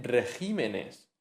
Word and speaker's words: regímenes: Se dice régimen, pero se dice regímenes.